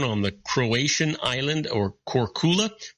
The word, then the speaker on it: Korčula: Did you know that Marco Polo was born on the Croatian island or Korčula, pronounced Korčula?